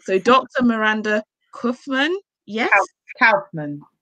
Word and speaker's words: Kaufmann: me, Michael's name is Nigerian, so I can pronounce that. German, I didn't do so well at school. So Dr. Miranda Kaufmann, yes? Kaufmann. Kaufmann.